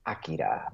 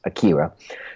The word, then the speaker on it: Akira: in, or I mean, to say it correctly, it's Akira, but the first version of it, the streamlined dub, it was Akira.